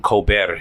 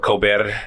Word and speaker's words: Colbert: And he was on the Stephen Colbert show. I think I'm pronouncing that right. Colbert. No rolling of the R. Colbert. It's more of a in your throat thing, but it's okay.